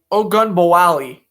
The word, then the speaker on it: Ogunbowale: I just have to break it down to syllables. It's Ogunbowale. No, wait. It's because it's an E at the end. So it's Ogunbowale. Okay, that's it.